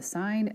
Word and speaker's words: sin: si N and cos we do not pronounce that as sin and cost when you see this you say sine of a cosine of a are defined as follows